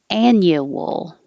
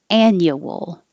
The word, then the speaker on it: annual: This one, you can have two versions, one with 3 syllables and one with 2 syllables. Annual, annual, or 2 syllables, annual. But you can't have annual. You have to have a Y in there.